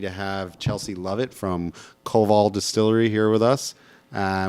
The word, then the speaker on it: Koval: Koval. Koval. So like K-O- emphasis on both syllables.